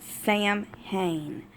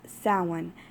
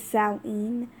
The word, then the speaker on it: Samhain: here is the sewing Subodh section some people pronounce it Samhain but that is incorrect if you do your research and look it up it is plainly pronounced someone there is also another pronunciation for it does